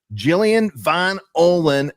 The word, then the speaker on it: Jillian Von Ohlen: Jillian Von Ohlen.